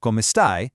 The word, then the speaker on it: come stai: Notice how the end of stai rhymes with I.